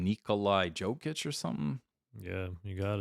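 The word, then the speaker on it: Jokić: Nikolai Jokic or something?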